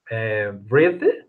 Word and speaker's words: breathe: You relax, breathe, breathe. Sorry, breathe, Breathe. breathe, Breathe. breathe, breathe. Right. Okay, The end E is silent.